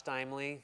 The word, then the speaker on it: Steimle: So, again, my name is Steimle, rhymes with timely.